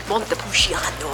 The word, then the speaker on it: Montepulciano: Montepulciano. It's not a Montepul. He pronounced it.